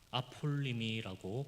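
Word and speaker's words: ἀπόλλυμι: 여기서 잃어버린이라는 단어 아폴리미라고 발음하는 그 잃어버린 단어입니다.이 단어는 단순히 물건 아니면 어떤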